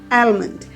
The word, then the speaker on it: almond: There is an alphabet, letter of the alphabet which should be silent, and that is L. We don't pronounce L in this particular spelling.